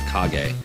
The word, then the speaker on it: Kage: Duck Hunt and Legend of Kage, which I used to think was Legend of Cage, by the way. That's how I used to pronounce it.